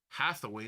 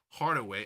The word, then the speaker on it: Hathaway: It's Hathaway, not Hardaway.